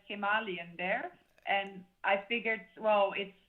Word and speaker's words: Himalayan: Yeah, I say Himalayan because that's the way they say it in India. Exactly. So when I wrote it there and bought it there, everybody says Himalayan there, and I figured,